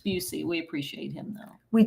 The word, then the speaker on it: Busey: And you called him Boosie. I mispronounced the man's name. It's Busey.